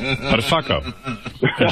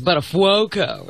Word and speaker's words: Buttafuoco: Buttafuoco. Jessica, that's how you say it, if you're Italian. I think it's Buttafuoco, if you're...